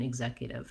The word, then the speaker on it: executive: think about is that the zek syllable with the red tent vowel is your stressed syllable. And so even starting with zek may help you. Zek, exec. This first EX says the I and the G sound in executive. So EX can say different sounds in different words.